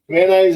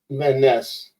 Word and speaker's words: Van Ness: Why do they pronounce it Van Nuys when it's spelled Van Ness? Van Ness.